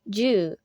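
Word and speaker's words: 十: Pronounced ju, it originally meant needle in Chinese. When ju is combined with the sanzui, the kanji for broth is created.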